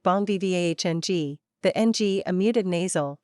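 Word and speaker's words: bon vivant: is always exciting always new two Bon vant pronounced something like Bon V vng the NG a muted nasal sounds similar to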